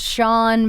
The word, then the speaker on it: Shenae: yeah and apparently mine it's like an Irish Russian spelling and it's pronounced Sean but then it's like